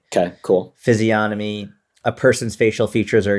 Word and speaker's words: physiognomy: Physiognomy. It's got a G in there, right? Yeah, but the G is silent, apparently. Okay, cool. Physiognomy, a person's facial features